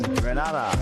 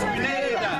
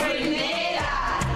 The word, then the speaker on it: Grenada: So today, like we Germans say, we are in Grenada. But I heard in English it's called Grenada. Say it right. Grenada. Say it right. Grenada. That's right. Grenada. There we go. Say it right. It's Grenada.